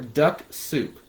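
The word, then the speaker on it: Dux-Soup: So if I was going to do that, I'd be using a tool called Linked Helper or Duck Soup.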